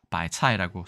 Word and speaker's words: 白菜: 나라에선 어떻게 얘기하는지 보겠습니다 당연히 중국어 발음에서 왔기 때문에 중국에서는 바이 차이라고 쓰고요 재밌는게 송차이라는게 또 있네요네